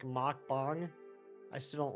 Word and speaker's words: mukbang: considered a rom hack can't remember which language mukbang comes from is not pronounced like uh Muk bang it's more like mck bang I still don't like it mukbang I don't